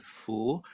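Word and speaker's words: 福: in Golden color here uh that's a word full uh in mandaran pronunciation uh which I I think the the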